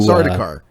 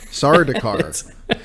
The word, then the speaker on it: Sardaukar: Sardaukar. I really butchered it earlier. Sardaukar.